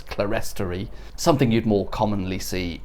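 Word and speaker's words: clerestory: the high volted ceiling and what historic England describe as cleartory windows beneath them. A word that I want to pronounce as clarie, something you'd more commonly see in a cathedral here.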